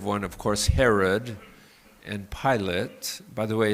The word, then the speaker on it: Pilate: There are voices like uh the negative one of course Herod and Pilate. By the way, his name is pronounced pilot not Pilates.